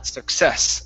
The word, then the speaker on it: success: Okay, this word here, instead of success, it's success. Stress on the end.